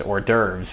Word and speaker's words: hors d'oeuvres: And it's hors d'oeuvres is the word. It's spelled HORS.